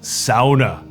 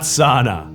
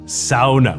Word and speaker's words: sauna: out the taxes yeah it's pronounced sauna not sauna sauna we're very particular about that both my parents had